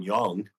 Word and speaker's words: Young: was just like Jason Young. It's like I kept pronouncing it Jung until I looked it up, and then I'm going, oh, it's sorry.